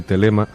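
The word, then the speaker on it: Thelema: Bueno, es una serie de dibujos que todo el mundo puede encontrar en internet, simplemente tecleando Abadía de Telema. Telema se escribe con TH, o en inglés Abbey, B-B-E-Y, y luego de Telema, ¿vale?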